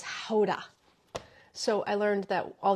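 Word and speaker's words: Gouda: thyme but mostly it's their different ages of guda oh yeah apple tart too uh but what they say there is it's not pronounced guda or GAA it's Hoda so I learned that all these years I've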